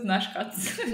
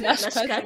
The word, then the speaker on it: Naschkatze: Actually, like, this is Naschkatze. Naschkatze.